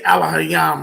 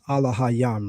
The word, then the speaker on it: Elohim: You said we pronounce Elohim as Allah Hayam, right?